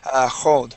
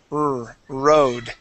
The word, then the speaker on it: road: Yeah, when you pronounce this this R, you use the Portuguese R, and you said road. Or. Okay. Yeah, the word is road.